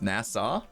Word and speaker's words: Nassau: was like whoa it sounds like they're saying nasa like this space program it's actually supposed to be pronounced nassau nasa nasa oh well that person pronounced it